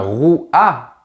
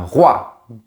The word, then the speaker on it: roi: Par exemple, un roi. On ne dit pas un rouat, on dit un roi.